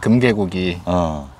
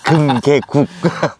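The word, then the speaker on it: 금계국: 금개구기. 금개구기? 금개구기? 금개구기 말고 금개국. 금개국. 그 국자 발음 확실하게 해줘야 돼.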